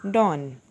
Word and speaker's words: Dawn: W is silent, so we will pronounce it Dawn.